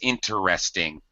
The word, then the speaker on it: interesting: The word properly pronounced is interesting. Interesting. 4 syllables. Very common to hear this reduced to 3 syllables.